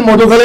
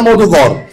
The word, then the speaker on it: মধুগর: সজল আছে ছোট ভাই সজল আমি মনে হয় উচ্চারণটা ভুল করেছি মধুখালী না মধুগর আমাদের আট নম্বর ওয়ার্ডের একটি গ্রাম মধুগর আমি